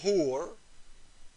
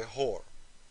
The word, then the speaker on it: hur: The Muslim man was promised 72 hur. Some people, they say it wrong, they say whore.